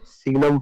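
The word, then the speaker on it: signum: कई बार इसको ये जी साइलेंट भी हो जाता है, ठीक है। अब कौन कहाँ क्या बोलता है उससे हमें कोई लेना देना नहीं है। तो ये देखिए, इसको सिग्नम फंक्शन या साइनम फंक्शन कहते हैं।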